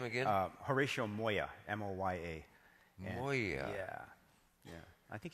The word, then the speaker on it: Moya: M O Y A.